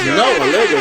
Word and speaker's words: Snoh Aalegra: Snoh Aalegra. Music drop. Give me a hand. Snoh Aalegra, I want to eat that pie for sure.